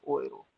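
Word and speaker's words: Euro: और जर्मन की जो करेंसी है, जर्मनी की जो करेंसी है वो यूरो होती है, बट उसको प्रोनाउंस कैसे करना है? ओएरो। कैसे प्रोनाउंस करना है साथियों? ओएरो।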